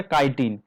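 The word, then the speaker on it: chitin: इसका जो प्रोनाउंसिएशन है वो है काइटिन। काइटिन एंड सेलुलोज से बनता है सेल वॉल जो कि फंगी का है।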